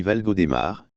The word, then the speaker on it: Valgaudemar: toponymie valgaudemar ou valgaudemar aussi écrit valgo démarre pour respecter la prononciation locales ou valgaudemar est composé